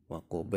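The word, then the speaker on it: وَقَبَ: Waqaba itu dibaca waqab sama karena ba adalah huruf qalqalah.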